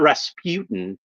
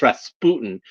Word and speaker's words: Rasputin: And that's how it's pronounced. Rasputin. It's not Rasputin, it's Rasputin.